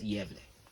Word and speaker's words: Gävle: It's spelled as G accented AVLE, GAVLE. So that's Gävle.